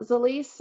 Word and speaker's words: Zilis: the company founded well the lease um it took me a little bit to learn how to say the least too and we said it wrong for a while but it's swahili and it means multiplying nutrition